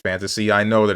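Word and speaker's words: Phantasy: I know this isn't Pahantasy Star, but I'm gonna say Pahantasy Star. This is Kenshi. Am I stupid? How did I forget that this game exists? It's pronounced fantasy.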